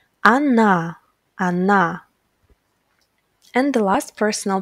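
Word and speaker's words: она: he Anna Anna she pay attention that the stress falls on letter Ah that's why letter O will be pronounced like ah as well Anna Anna and the last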